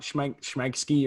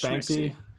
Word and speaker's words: Shmicksy: Not Schmegsky or. Not Schmagsy or Shmicksy or Schmikesy. It's just Schmicksy.